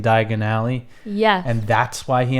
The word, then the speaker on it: Diagon Alley: instead of just like deciding to pronounce it really stupid diagonally right after Mrs Weasley tells him to make sure he pronounces it right yeah like what they couldn't have done you've known for over a year now that it's Diagon Alley and Mrs Weasley just